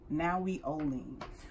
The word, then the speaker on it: Nahui Ollin: got this I mean pronounce it right it's now we only so it's now we